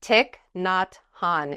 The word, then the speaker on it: Thich Nhat Hanh: Thich Nhat Hanh is how you pronounce it.